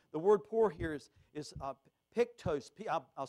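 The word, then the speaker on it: ptochos: The word poor here is pictos. I'll spell it for you.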